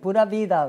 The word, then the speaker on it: Pura Vida: Am I pronouncing that right? Sí, Pura Vida, right.